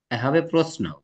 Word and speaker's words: প্রশ্ন: হবে নাকি প্রশ্ন হবে প্রশ্ন ওই যে ন আছে তাই দন্তস্য হবে একটু আগেই তো বলছিলাম মনে আছে প্রশ্ন উচ্চারণটা হবে কালো দ্বন্দস দিয়ে বুঝতে পেরেছ কেন কারণ ওর সাথে ন ফলা যুক্ত হয়েছে ধরতে পেরেছ জি স্যার